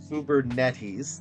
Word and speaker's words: Kubernetes: 40% in Scala based microservices on Google Cloud's Uber netes that is how you say it using redus